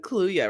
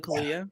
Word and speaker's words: Kaluuya: How do you pronounce his name again? That's Kaluuya, right? Daniel Kaluuya. Yeah, it's almost like Kaluuya, but yeah.